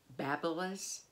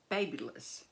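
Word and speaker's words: BaByliss: I did not know I had always been pronouncing this babilis and it's really babyes is what the owner said but anyway it is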